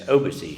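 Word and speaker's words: Obici: Leaders and philanthropist was Amadeo obichi commonly pronounced as obesy here in suuk his story is truly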